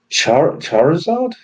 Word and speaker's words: Charizard: Charizard? Am I saying it right? Yes, It's Charizard.